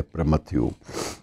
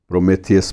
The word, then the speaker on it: Prometheus: में उसका जिक्र आता है और वो है प्रमथ्यू। प्रोमेथियस भी बोलते हैं, अलग अलग उच्चारणों से अपने अपने देश अपनी अपनी भाषा के मुताबिक उसके उच्चारण बदल जाते हैं।